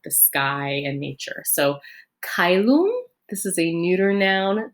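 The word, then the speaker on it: caelum: differently in the church church latin is pronounced more like italian um than classical latin which is how i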